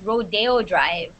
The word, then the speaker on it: Rodeo Drive: rodeo drive okay no this is actually pronounced rodeo drive rodeo okay so when you